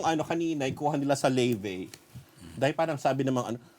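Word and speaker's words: Laufey: sila ng set ng lave ang bigkas daw doon leve ayon yung brand ng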